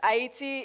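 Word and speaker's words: Ayiti: verse 3 we have this is pronounced viv IET yes IIT is the original name of what people refer to as Haiti and it's also the original name of the island itself VVT means long live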